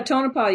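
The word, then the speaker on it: Tonopah: in a place called tonipal Nevada I don't know if I pronounced that right yeah tonipal you're saying it just right okay um what I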